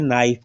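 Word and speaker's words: knife: हैं नोक इसमें देखिएगा एन से पहले के है क्या बोलते हैं नाइफ का नाइफ तो नहीं बो बोलते नाइफ बोलते हैं के साइलेंट है इसमें भी देखिएगा नाइट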